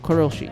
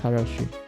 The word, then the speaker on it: karoshi: Yeah, Karoshi. I don't know why I pronounce it as Ko. It's Karoshi.